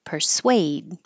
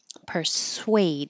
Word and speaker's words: persuade: and we started with persuade persuade it doesn't look like it but this Su UA is sway so round your lips could I persuade you